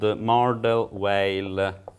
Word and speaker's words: Mordell-Weil: to study, is the family of lattices called Mordell-Weil lattices, which come from algebraic curves over function fields.